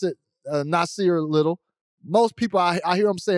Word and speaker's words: Nassir: your first name uh you pronounced it correctly okay yeah that's pronounced um if you like casually people say nasir which is cool as well but formally it's pronounced yeah okay does that